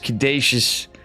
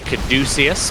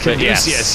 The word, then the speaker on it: Caduceus: Catechus, Caduceus, Cuckosaurus Rex Reactor. It's Caduceus. Caduceus, yeah, that's right.